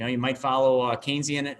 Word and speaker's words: Keynesian: you might follow uh keynesian economics or canesian economics as some you know pronounce it as i do too uh that's kind